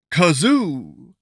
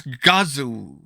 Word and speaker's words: Gazoo: his name hey uh it's the great kazoo uh it's gazu not Kazo well hey Fred what